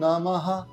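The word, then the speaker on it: নমঃ: কিন্তু একবার করবেন এখানে নমহা যে বিসর্গ রয়েছে সেটা ন ম আর হ এর উচ্চারণ হবে এখানে তো প্রথমটা তিনবার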